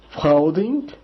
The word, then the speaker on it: Freundin: Então, Mädchen, Freundin, o EU dá o OI, né?